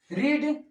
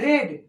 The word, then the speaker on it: read: अब यहाँ पर देखिए हम बताए थे READ रीड READ फिर READ यानी कि V1 V2 V3 तीनों सेम होता है लेकिन तीनों का उच्चारण अलग अलग होता है। इसको बोलते हैं रीड, इसको बोलते हैं रेड, इसको बोलते हैं रीड।